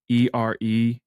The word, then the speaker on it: Erewhon: It's spelled like EREWHON.